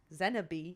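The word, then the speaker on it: Xenobe: Zenabe, that is how you say their name.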